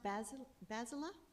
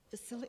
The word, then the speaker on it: Vasily: It's pronounced Basila? Vasily. Oh.